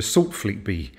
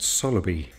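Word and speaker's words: Saltfleetby: on the 28th of February I walked to softly B which I found out is actually pronounced Sala B and along the way I needed a pit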